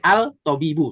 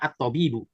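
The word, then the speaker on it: الطبيب: Jadi al-tobibu, dibacanya at-tobibu.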